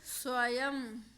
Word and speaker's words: स्वयं: एंड में लगाते हैं तो ये जो अंक की बिंदी है ये माँ के रूप में चेंज हो जाती है। इसका जो उच्चारण स्थान है वो माँ के रूप में बदल जाता है।